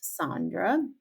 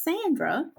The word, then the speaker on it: Saundra: My name is spelled Sandra. It's pronounced Sandra. And one of my teachers told me my name was Sandra.